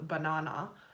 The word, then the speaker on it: banana: NH and ER so if you're gonna spell it away in Australian says banana it would be bah NH NH banana banana banana banana